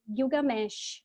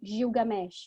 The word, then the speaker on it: Gilgamesh: E esse é o épico de um cara chamado Gilgamesh, ou Gilgamesh, né? Dependendo de como a gente pronuncia o nome dele.